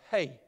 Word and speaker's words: He: it starts out now that word is written as h-e but it's pronounced hey as like you would say h-e-y so hey teach me